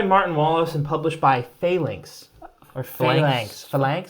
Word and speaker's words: Phalanx: It's designed by Martin Wallace and published by Phalanx. Or Phalanx. Phalanx? I think it's pronounced Phalanx because it's like the Roman formation.